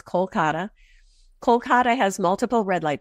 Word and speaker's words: Kolkata: in the city so there's a city called Kolkata sorry Kolkata in English the Indian way to pronounce is Kolkata Kolkata has multiple red